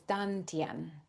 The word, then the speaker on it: dantian: It's spelled a few different ways, but Mhm. Dantien. But it's also spelled Tantien or Dandian, but it's Dantien.